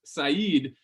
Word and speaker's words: Said: But yeah, his name is pronounced Said.